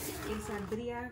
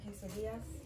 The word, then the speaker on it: quesadilla: Quesadilla, so they're like birria quesadillas.